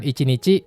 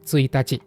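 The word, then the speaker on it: ついたち: Hati-hati dengan cara baca tanggal 1. Bukan icinichi, tapi suitachci.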